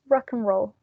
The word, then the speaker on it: rock and roll: to tell you then it's rock and roll without pronouncing like the end row which is a roll like rock and roll right and we do